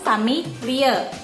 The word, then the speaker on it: Familie: Oke, dibacanya itu familie. Di belakangnya jangan dihilangkan.